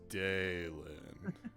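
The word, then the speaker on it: Dailan: he starts writing in dalen that's d a i l a n d a e person behind you starts tapping their foot on the ground Karen oh so it's Daylin it's exactly how it's pronounced he's like scribbling it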